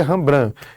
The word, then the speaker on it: Rembrandt: Se escreve Rembrandt, mas se lê Rembrandt.